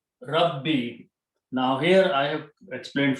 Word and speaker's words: Rabbi: So we keep the sound of kasra and don't give it, otherwise it's hard to pronounce. Rabboyi, Rabbi. So this is the word now, Rabbi.